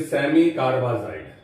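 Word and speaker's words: semicarbazide: अब मैं इसको सेमी कार्बे, इसका करेक्ट प्रोनाउंसिएशन है सेमी कार्बेजाइड।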